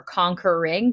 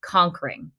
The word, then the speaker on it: conquering: And I also, on the second line, messed up because I did 3 syllables for conquering, but really it's meant to be read conquering.